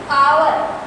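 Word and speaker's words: hour: When we pronounce these two words H is silent. जब हम आवर और honest in दोनों वर्ड को प्रोनाउंस करते हैं तो इसमें एच साइलेंट रहता है.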